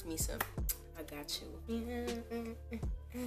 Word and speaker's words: Meese: Like, I'm trying to say the name because I don't think people know how to pronounce it properly. It's Meese.